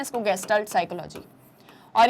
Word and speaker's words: Gestalt: ठीक है, ऐसे प्रोनाउंस करते हैं ना इसको, गेस्टाल्ट साइकोलॉजी।